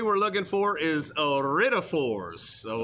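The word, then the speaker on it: iridophores: correct answer we were looking for is a writtaforce so i r i d o p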